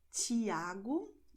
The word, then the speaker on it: Tiago: And then you have the combinations TI always and TE at the end of the word. And in this case, you're going to have the sound that you have in match. Okay, so you're going to have Tiago, noite.